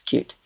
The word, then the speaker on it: Qt: tends to be CT whereas in Europe and other places it's cute I feel much better I've been calling for years and I always felt bad oh happy to help what was the original pronunciation I think it's cutie is actually from Norway or cute is actually from Norway and I think they always called it cute um this is called